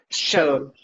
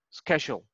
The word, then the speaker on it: schedule: Yeah, the pronunciation of this one is you need to make a long sound like sh, then ske, and then shol. At the end, sounds like shol. Schedule.